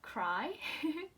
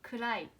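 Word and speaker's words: 暗い: And it's not cry. In an English word, we say kurai, okay?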